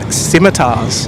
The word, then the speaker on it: scimitar: them split skars uh we call them simitar the sea is silent I like your version